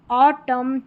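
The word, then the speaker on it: autumn: है नंबर 33 पर एम एन इसको म पढ़ेंगे क्योंकि एन यहां पर साइलेंट है लास्ट में आएगा यह वाला पैटर्न ठीक है ऑटम कॉलम हिम यहां पर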